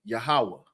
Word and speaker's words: Yahuwah: that we're wrong when we say the name yahuwah you're wrong that's not how you pronounce it you know what